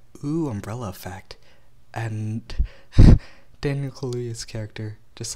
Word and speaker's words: Kaluuya: Then Daniel Kalula, how do you say his name? I got my computer right here. Daniel Kalula. Kalula. Kalula. He's British? Yo. Daniel Kalula. Kaluuya, yeah, that's it, got it. Daniel Kaluuya.